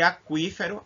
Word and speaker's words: aquífero: E aquífero, A-Q-U, cui.